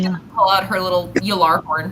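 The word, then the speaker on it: Gjallarhorn: Galar horn? Gallar horn. Sorry, what? DJ? Gallarhorn. Yalar horn? Yeah, it'd be a Yillar. Jay makes a Yeah, she's yeah. gonna pull out her little Yalar horn.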